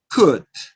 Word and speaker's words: could: In some words, the letter O is silent. Have, talk, could. Notice you don't pronounce the letter L. It's silent letter.